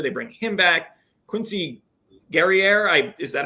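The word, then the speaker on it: Guerrier: paint last year they bring him back Quincy gerer I is that how you pronounce it FR gerer like FR G exactly you got frce Canadian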